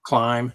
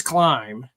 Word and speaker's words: Klim: pipe on it, Kropovich, however you want to pronounce it. Yeah. Climb.